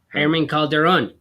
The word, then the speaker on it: Herman Calderon: So how you say his name? I'd say Herman. Herman Calderon.